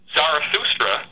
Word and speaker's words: Zarathustra: And so the original Aryan religion was then distilled by Zarathustra, whose name was mispronounced as Zoroaster.